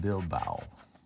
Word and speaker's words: Bilbao: And below that, what we'll do is we'll put our sketch of the museum at Bilbao. And it's pronounced Bilbao, Spain.